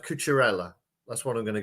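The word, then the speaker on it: Cucurella: i'm behind his hair um i think it's pronounced couture ella that's what i'm going to go with anyway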